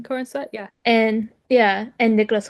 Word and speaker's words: Corenswet: Is that how you pronounce his last Mm-hmm. name? Corn sweat.